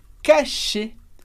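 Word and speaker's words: cacher: aqui a gente tem o verbo cachê cachê e r do final a gente lê como e que significa esconder cachê é esconder nesse caso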